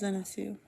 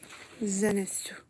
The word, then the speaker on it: Zenitsu: How to pronounce Zenitsu?